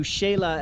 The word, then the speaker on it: Xela: pick us up we're off to Shayla as the locals call it or quits Alton tango